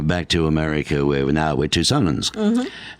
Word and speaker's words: Tucsonans: And then back to America where we're Tucsonans. Tucsonans. Correctly pronounced.